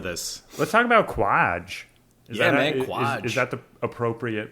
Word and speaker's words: Kwaj: Quaj. Is that the appropriate pronunciation, Quaj? That's how I was pronouncing it in my head. Yes, Quaj.